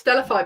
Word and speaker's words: Stellafai: name of our company, so it's Stellafai, but spelled with an AI at the end, so STE, can't spell, LLAFAI, and that's because we want to use AI, and that comes in